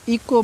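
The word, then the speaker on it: echo: इसको बहुत से बच्चे इ चो पढ़ते हैं ठीक है इ चो नहीं पढ़ना है इसको इको पढ़ना है क्यों एच साइलेंट है एच को नहीं देख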